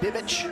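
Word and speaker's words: Bibic: a look at Dylan Bick now the Canadian Dylan Bick you may have heard his name pronounced as bibbit as well and if you ask his father both are correct and so his father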